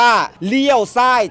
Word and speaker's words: ລ້ຽວຊ້າຍ: หรือ เปล่า อย่า ค่ะ ภาษา ลาว คำ นี้ อ่าน ว่า เลี่ยว สร่าย จ้ะ ใช่ เออี้ ซ เลี้ยว